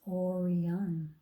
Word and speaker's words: Orion: is called the hunter the hunters name is Orion you say it like this Orion he can be seen